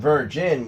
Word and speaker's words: virgin: Again, I would probably focus more on the end, because the beginning sound, the ver sound, is the same in both.